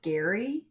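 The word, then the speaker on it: Gerry: it spelled g r r y and it's pronounced Gary yes he rdle me that one Batman what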